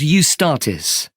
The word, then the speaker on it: Eustatis: there's a performance by a ballet company called eustatis sorry the name is spelled e u s t a t i